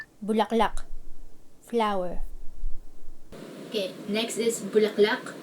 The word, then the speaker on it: bulaklak: like the longest conversation in Filipino using one syllable bulaklak flower Okay next is bulaklak meaning flower for